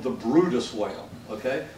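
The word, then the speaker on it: Bryde's: And FYI, the most endangered whale actually in North America is a species of whale called the Brutus whale. Okay, it's spelled Brides, but it's a Brutus whale, and it lives down in the Gulf of Mexico.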